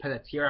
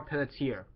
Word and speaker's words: Peletier: So yeah, at number 3 we have Carol Peletier, I believe is how you say her last name.